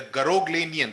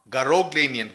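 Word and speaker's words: Garoghlanian: the reputation for honesty of the family the ganian that's how it is pronounced I checked it on YouTube right now ganian ganian tribe is famous for its honesty and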